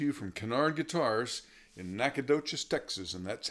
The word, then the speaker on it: Nacogdoches: Again, this is Kinnaird coming to you from Kinnaird Guitars in Nacogdoches, Texas, and that's how you say it.